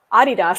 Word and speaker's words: Adidas: I recognized it as what we say is Adidas. He was saying Adidas because he's in Germany and that's how they say it.